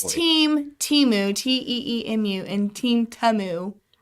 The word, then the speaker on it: Temu: It is Temu. Just lean into it. Who's Team Temu, Teemu, and Team Temu?